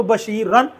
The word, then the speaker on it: بشیر: بشیر پڑھا جاتا ہے، یہ بھی بشیر پڑھا جاتا ہے، پیش ہو نہیں پڑھی جاتی، بشیر بشیر، ہاں یہاں بشیر را پڑھا جاتا ہے، اور جب ملانا ہو تو بشیرن بشیرن بشیرن، یعنی تلفظ کے اصول